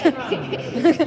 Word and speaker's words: Toronto: Okay, Toronto. You dropped the T.